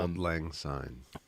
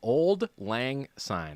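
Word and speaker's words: auld lang syne: So, old is old. The last word is like sign. Like I saw the sign and it opened up my eyes.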